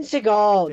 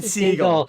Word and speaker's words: Segel: Jason Segel, Jason Jason, Segel. You've got me mispronouncing it now. It's Jason Segel, as in the animal Segel, Jason not Segel. not Seagal like Steven Seagal.